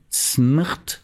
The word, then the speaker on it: smrt: À propos de Kundera, vous dites que le mot mort se dit smrt. Oui, c'est-à-dire qu'il n'y a pas de voyelle, S-M-R-T. Oui. Et que ça se prononce comment? Smrt. Oui. Ça veut dire mort. Oui. En tchèque.